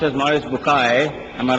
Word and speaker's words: Maurice Bucaille: and a scholar of Quran Dr moris buk pronounced as moris bukai I'm a right doctor matter okay uh he's